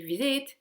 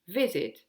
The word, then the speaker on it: visit: Tandis que visit, vous voyez bien que j'ai pas dit visit, j'ai dit visit, j'ai insisté sur la première syllabe.